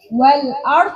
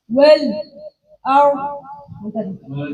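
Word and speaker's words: وَالْأَرْض: Kalau waqaf ini cuma dibaca satu wajah, yaitu sakta. Seperti wal ard dibaca cuma satu. Wal ard.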